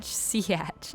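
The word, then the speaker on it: Sietch: I have to say it like that so I remember how to say it. I saw that on Reddit. Someone was trying to say, how do you say Siatch? And they were like, Siatch, Biatch.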